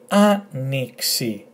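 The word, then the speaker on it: άνοιξη: So to pronounce them, A, with the emphasis on A, A, N, E, and this is pronounced X, if you remember, as in taxi, and E. So altogether, anixi, anixi, anixi, anixi, which is a spring, spring.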